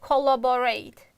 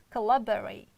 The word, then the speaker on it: collaborate: oh our next one again most students pronounce like collaborate it's wrong you can't pronounce it like collaborate it's collaborate collaborate you see collaborate love is strong sound therefore we can't reduce it and rate also strong sound but other two we can reduce collaborate okay this is